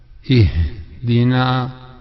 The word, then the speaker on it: اهدنا: اهدنا, faire attention, beaucoup de gens disent اهدنا. En fait c'est I. Le A il faut donc c'est un H inspiré. Il faut donc bien le montrer, le prononcer. Ihdina, si on s'arrête, Ihdina,